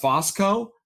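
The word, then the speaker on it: Fusco: We have Jason Bateman, Corbin Burnson, Betty White, Rhea Perlman, Malcolm Jamal Warner, Paul, I think it's pronounced Fosco.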